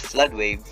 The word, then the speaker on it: FLDWAV: FLDWAV, pronounced flood wave, version 2.0.0, released in June 2000, handles very complex flow situations.